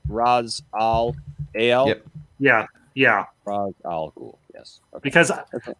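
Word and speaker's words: Ra's al Ghul: s space t-h-u-l that's actually yeah yeah right raz all ale yeah yeah frog yes because dawson didn't you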